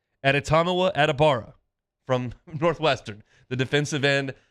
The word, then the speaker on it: Adetomiwa Adebawore: Adetomiwa Adebawore. Adetomiwa Adebawore. That's right. I've spelled it out phonetically. I heard him say it and then wrote it down on my notes. Adetomiwa Adebawore from Northwestern, the defensive end.